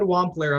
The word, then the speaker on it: Wampler: Wampler. I'm pronouncing that correctly.